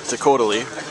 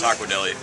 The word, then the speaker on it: Taco Deli: recommend that you uh stop at the Takota what's that Spud I think that's pronounced Taco Deli what oh it is silly